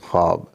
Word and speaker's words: خواب: مثال کے طور پہ خواب۔ خواب جو ہے یہ خواب نہیں پڑھا جاتا، اس میں واو ہے خے کے بعد، لیکن واو ادا نہیں ہوتی، بولتے ہوئے تلفظ میں اس کی آواز نہیں آتی۔ اسی طرح درخواست نہیں